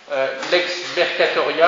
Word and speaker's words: lex mercatoria: Lex mercatoria, alors c'est comme ça se prononce, en deux mots, LEX, petit mercatoria, M-E-R-C-A-T-O-R-I-A, lex mercatoria, la loi des marchands.